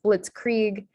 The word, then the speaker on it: blitzkrieg: i sound um but some examples for the ie being pronounced as e is blitzkrieg and then v nervous